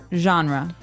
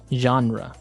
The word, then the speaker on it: genre: pronounced differently we say genre genre or genre this kind of sounds French is it French I think it comes from French uh it's a g